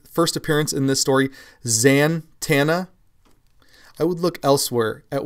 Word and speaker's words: Zatanna: appearance in this story Zatanna, I would look elsewhere at where you're getting your comic book knowledge. There is no N there before the T. It's Z-A-T, Zatanna. Z-A-T-A-N-N-A, Zatanna, not Zatanna.